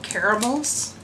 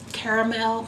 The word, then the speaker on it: caramel: with a couple of caramels did I pronounce that white right caramel caramel caramel it depends on where you're from I guess yeah okay I'm gonna